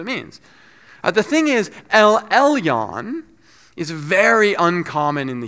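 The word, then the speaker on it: אל עליון: In Hebrew, it's pronounced El Elyon.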